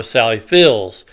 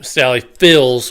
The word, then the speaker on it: Sally Field: there's some residual where people have pronounced her name Sally Fields with an S as opposed to you know I just saw a field and the current time line it's Sally Field without the S like they showed a